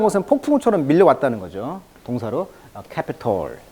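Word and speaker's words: Capitol: 동사로 캐피톨. 자, 캐피톨은 미국 국회의사당을 말하죠. 이 캐피톨은 우리가 이제 그 수도로 말할 때 캐피톨 알죠? CAPITAL. 이 캐피톨하고 발음은 똑같습니다만 국회의사당이라는 뜻입니다.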